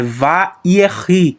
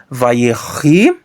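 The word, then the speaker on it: וַיְהִי: É vayerri, tá bom? Esse shivá aqui é pronunciado, porque tem um metg aqui que está tornando o patá longo. Então ele é pronunciado sim. Então, vayerri hadam lenefesh.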